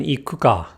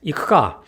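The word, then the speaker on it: 行くか: I heard the Japanese students say the correct iku ka, but I kept saying ikuka because I kept unconsciously trying to voice the U in ku.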